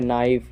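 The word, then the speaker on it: knife: जैसे नॉलेज, यहाँ पे नाइफ, यहाँ पे देखिए नी, यहाँ पे देखिए नॉप, तो इन सब चीज़ों में हम के साइलेंट रहता है।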